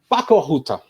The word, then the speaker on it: Pakko Huutaa: Kati, first of all, I forgot how to pronounce it in Finnish. Jukka? Pakko Huutaa. Pakko Huutaa.